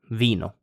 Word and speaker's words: vino: So I, the English I, it's pronounced E in Italian, like in the word vino, so wine in English.